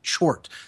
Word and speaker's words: Tchort: And it's spelled Tchort, Chort.